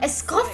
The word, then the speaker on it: Escoffier: I'm Escoffier! so excited to be here. That's how you I'm pronounce so iced coffee.